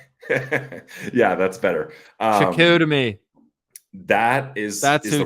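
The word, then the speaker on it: Chicoutimi: Shakutami.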